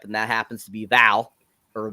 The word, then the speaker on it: Vel: that happens to be Val. Or Vel. I think it's Vel, actually, because it's spelled V-E-L, but I swear they call her Val.